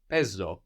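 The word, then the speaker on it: παίζω: So this is spelled P, which is the letter that looks like the mathematical symbol, the pi, no? AI, which gives us the E sound, like in ke, the word for and, like in ne, the word for yes.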